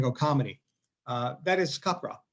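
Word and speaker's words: Capgras: So number one is caprass otherwise known as copra if you're going to pronounce it right.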